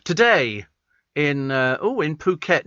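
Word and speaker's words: Phuket: to on the radio it's pronounced puket okay as in puket and uh he said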